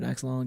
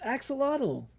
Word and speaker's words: axolotl: This is the first time I've heard axolotl get pronounced axolotl instead of the other way, which I am fine with.